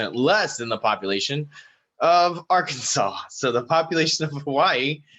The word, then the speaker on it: Arkansas: the population of arkansas i laughed when i see arkansas because i swear to god it's arkansas if they wanted it it's pronounced differently they should have spelled it differently it's a cruel game